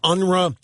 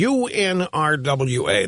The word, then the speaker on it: UNRWA: I the the the group that she was talking about, she was pronouncing it UNRA. It's the United Nations Relief and Works Agency, UNRWA.